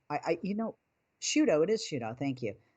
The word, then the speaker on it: Sciutto: you say his name i i you know shooto it is shootout thank you um i was